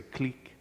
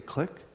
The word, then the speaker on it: clique: We always just say clique, but here you say click? Click, click, like click.